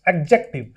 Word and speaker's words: adjective: it's not adjective it's adjective exactly where d is silent whenever a d comes between a and j so the d is